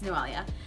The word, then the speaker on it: Noelia: to the ey a if you don't know how to say my name its noelia um I am with